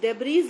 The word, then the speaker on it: debris: हम लिखते हैं DEBRIS, डेब्रीज लिखते हैं, बट बोलते हैं डेब्री. S is silent.